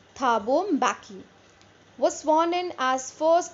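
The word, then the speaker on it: Mbeki: happened then tabum baki it is pronounced as baki fine listen to it carefully thabo baki was sworn in as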